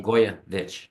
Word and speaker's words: Blagojevich: Blagoy Blagojevich. Blagojevich. Thanks for coming to Global View. It rhymes with Papadopoulos.